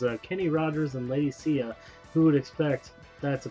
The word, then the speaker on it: Sia: i think of ladies it's sia but it's spelled i think it's i think it's spelled saya like yeah ladies dude